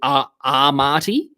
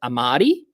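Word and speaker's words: Amartey: I go with Armati instead of just Amati.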